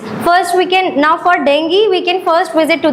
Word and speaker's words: dengue: When somebody is suffering from dengue, which we call dengue, but the actual pronunciation is dengue.